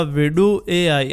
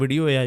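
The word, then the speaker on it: Vidu: अब मैं जैसे इसको यहाँ पे सर्च करूंगा तो ये पहले वाली वेबसाइट है विडू AI, जिसको कुछ लोग वीडियो AI भी बोलते हैं बट इसके स्पेलिंग कुछ और ही है।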